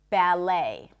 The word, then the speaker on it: ballet: The T is pronounced. But in English, ballet.